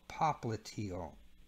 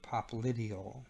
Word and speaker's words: popliteal: with patellar now the back part is called popliteal or popliteal depending on how you pronounce it popples is a